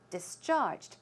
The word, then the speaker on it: discharged: to go home and discharge the stress could should go on the second syllable discharged it means to let free